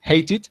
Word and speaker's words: hated: hated in this opportunity we pronounced they okay why because before they you see at T that is why we say hate it I not hate for example okay hated very